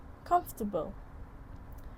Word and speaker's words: comfortable: So the first word is comfortable. Comfortable. So let's hear how the participant pronounce the word.